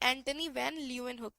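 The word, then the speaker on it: Antonie van Leeuwenhoek: ये भी एक साइंटिस्ट थे, एंटोनी वैन ल्यूवेनहुक। ठीक है, इन्होंने फर्स्ट लिविंग सेल की खोज की थी, इन्होंने फर्स्ट लिविंग सेल की खोज की थी, एंटनी वैन ल्यूवेनहुक। कैसे प्रोनाउंसिएट करेंगे, एंटनी वैन ल्यूवेनहुक।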